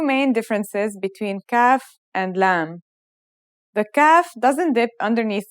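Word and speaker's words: لام: isolated and final forms the lamb sounds like the English L very easy to pronounce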